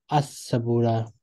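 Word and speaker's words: السبورة: Al Sabura is the board. As Sabura. Lam is silent.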